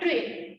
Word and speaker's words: trail: This is नॉट ट्रायल. Okay, I'm not mispronouncing it. Some students think that teacher is mispronouncing this word. It's audit trail. Audit trail.